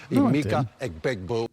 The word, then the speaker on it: Emeka Egbuka: You mispronounced Emeka Egbuka's name wrong. Emeka Egbuka.